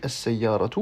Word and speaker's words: السيارة: D'abord, pour les mots féminins, comme sayyaratu, eh bien, de manière courante, on peut choisir, dans certains cas, de ne pas prononcer la dernière lettre. Donc là, j'ai dit as-sayyaratu, mais j'aurais pu dire as-sayyara.